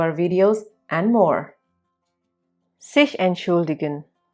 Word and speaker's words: entschuldigen: Sich entschuldigen. The verb here is pronounced with the T silent.